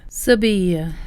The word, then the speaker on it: Seville: The locals would actually call this place Seville. They actually change the V for a B sound, a BV really, and the L's will be like a Y sound.